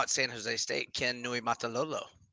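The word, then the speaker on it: Niumatalolo: But another tough one that I eventually learned to pronounce and spell is now at San Jose State, Ken Nui Matalolo. Nui Matalolo, yeah, when he had key coach for Navy for a while too.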